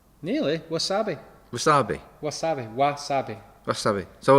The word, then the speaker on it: wasabi: can have that that it's a w that's pronounced like a v is it really number